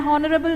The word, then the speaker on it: honorable: An honorable man because HO is pronounced as O in a vowel sound.